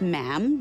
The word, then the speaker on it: ma'am: For instance, when you're addressing the Queen, she is Her Majesty, and after that, it's just ma'am, rhymes with jam.